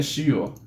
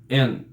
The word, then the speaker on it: 塩: japonesa, dessa letra é shio. Dessa letra aqui, a leitura kun, de origem japonesa, dessa letra é shio. Enquanto a leitura on, de origem baseada na pronúncia chinesa, é en.